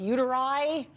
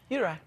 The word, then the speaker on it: uteri: Well, how do you say plural uteruses? Uteri? Uteri. Uteri, 2 uteri. Dr.